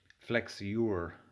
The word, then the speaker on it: flexure: which is uh a different thing but uh flex your is how uh it's pronounced so um these work by just bending